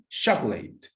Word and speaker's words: chocolate: Listen to me. Chocolate. Chocolate. Yes, this is 2 syllables, guys, pronunciation.